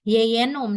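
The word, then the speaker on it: jejunum: ini ada usus kosong atau yeyenum dibacanya ditulisnya jynum Nah jadi di dalam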